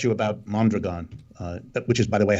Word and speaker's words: Mondragon: ] yeah well let me correct you about mondragon which is by the way how it's pronounced mondragon has multiple parts some of the